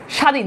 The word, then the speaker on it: স্বাধীন: সাবমি এরকম হয় না স্বাধীন দেখো এই যে বফালার উচ্চারণ নাই স্বর্গ বফালার উচ্চারণ স্বদেশ